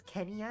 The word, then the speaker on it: ケニア: It's actually pronounced as Kenya in Japanese, not just Kenya.